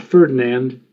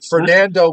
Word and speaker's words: Fernand: Not Ferdinand. Fernand Fernand. Yes. All right. Well, that storm seems like Fernando without the O.